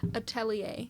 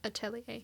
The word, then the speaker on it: atelier: Atelier. We're not pronouncing it the French way. We're going with the American way. Atelier. Anyhow, witch hat. Attilier.